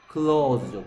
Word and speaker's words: claws: claws죠. claws. AW가 뭐대요? o 되죠. o. claws죠. claws. claw가 뭐예요?